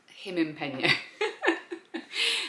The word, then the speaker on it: Gimingpeno: And for some reason we then made the G into an H when we pronounce it. Gimingpeno.